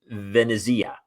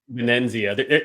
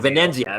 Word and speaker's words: Venezia: Amanda Venezia. Did I pronounce it correctly? Venenzia. There's like an invisible N in her last name. Got it. Venenzia.